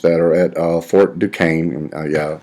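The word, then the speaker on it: Duquesne: are at uh Fort Duane yeah that's how you pronounce this guy says Duane I know it doesn't look that way um heed to go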